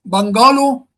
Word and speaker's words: bungalow: Is it bungalow or bungalow or bungalow? Where should the stress lie? Bungalow. Yes, bungalow. Bungalow. The stress lies on the first syllable.